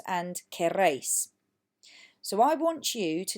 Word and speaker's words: queréis: Queréis, again, not quieres, queréis, it's spelt differently, means you all want.